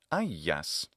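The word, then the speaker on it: Αἴας: Interestingly, it's not Ajax in ancient Greek, it's Aias.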